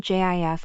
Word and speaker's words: GIF: for the record it's GIF with a hard G nope still team JF over here uh we're